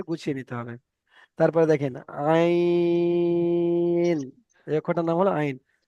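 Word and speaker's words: عين: এটা হামজা থেকে আ আসে এবং আইন থেকে আ আসে, কিন্তু আইনের উচ্চারণটা আপনাকে গলার ভিতরে নিয়ে যেতে হবে। আইন, আইন, আইন, গলার ভিতর থেকে আইনটা আনতে হবে।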